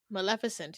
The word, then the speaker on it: Maleficent: Also, I can't pronounce this word. I always have Maleficent? Is it Maleficent? Maleficent, yes.